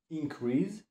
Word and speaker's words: increase: maleć przy tym czasowniku Warto zwrócić uwagę na Akcent akcent pada na drugą sylabę ponieważ jeżeli akcent padałby na pierwszą sylabę increase albo The creest mielibyśmy już wtedy rzeczownik czyli increeze aktor na drugą